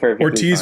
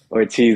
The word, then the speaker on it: Ortiz: I was like, man, I probably mispronounced that. Did Ortiz was correct. Ortiz is definitely correct.